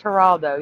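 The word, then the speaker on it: Geraldo: for Christ it's spelled yes it's spelled it's pronounced haralo yes five Fox News and the other people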